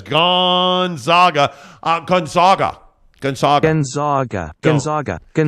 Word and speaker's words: Gonzaga: I paid a lot of good money at Gonzaga. Gonzaga. You will say it correctly. I didn't go through 4 years of wasted education and get a degree that I don't use in poli-sci till I die for you guys to say Gonzaga. Go play intramurals, brother. You will say Gonzaga, or I will unsubscribe from the show. Gonzaga. It's Gonzaga. Gonzaga. That's how you say it.